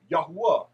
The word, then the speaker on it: Yahweh: of the creator's name, Yod Heh Waw Heh, pronounced as Yahweh.